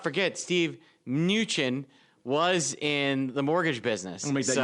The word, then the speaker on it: Mnuchin: But Mnuchin is going to be a fun one to say for a while. Gotta love silent letters in the Treasury Secretary.